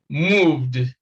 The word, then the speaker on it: moved: the word moved moved now because v v is a voiced consonant and it comes before e d e d comes after this and this is the voice consonant so the sound here is d so and that obeys rule number two this first one obeys rule